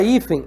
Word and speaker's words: hífen: A palavra hífen é uma paroxítona, porque a penúltima sílaba é tônica, e ela é acentuada por quê?